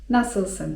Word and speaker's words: nasılsın: nasılsın? (czyt. nasylsyn) I to oznacza 'jak się masz?'.